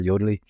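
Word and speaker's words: Yodlee: Zoho was using, it's pronounced many different ways. I pronounce it Yodel. I hear Yodely, only for their bank feeds.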